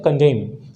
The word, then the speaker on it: condemn: CONDEMN लिखा रहता है, स्पेलिंग है, लेकिन हम इसको पढ़ते हैं कंडेम।